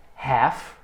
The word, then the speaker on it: half: Mas existe aqui também uma variação, a gente vai usar o half. Repeat, sem o L não pronuncia.